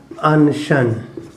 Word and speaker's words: अनशन: का असन में देखो स वही ताल का प्रयोग हुआ है इसका होगा अनशन अन शन यहां भी वही ताल का प्रयोग हुआ है तो इसका उच्चारण में ध्यान देना स और श में